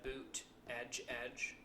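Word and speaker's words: Buttigieg: happening due to judge how do you say her last name Buddha judge Buddha judge Buddha judge he had shirts that said boot edge edge Oh mayor PD a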